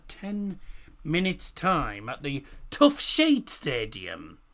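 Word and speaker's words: Toughsheet: Now, kick-off coming in just under 10 minutes' time at the Tough Sheet Stadium. And yes, I did pronounce that correctly. Not Tough Shit. Tough Sheet Community Stadium.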